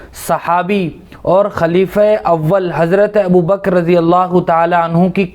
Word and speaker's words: ابو بکر: بسم اللہ الرحمن الرحیم، حامدا و مصلیا و مسلما، اما بعد۔ ابو بکر یہ اصل اس نام کا تلفظ ہے، اور ابو کے معنی عربی میں